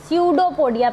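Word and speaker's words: pseudopodia: स्यूडोपोडिया, P silent है, स्यूडोपोडिया कहते हैं।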